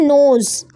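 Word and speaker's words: knows: नोज। के silent हो जाएगा, एन पढ़ेंगे हम सिर्फ।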